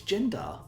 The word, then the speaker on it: Gendarr: Well, as discussed, it's Gendar. yeah, Gendar. It's yeah. Gendar. Exactly. Jendar the Dust Devil.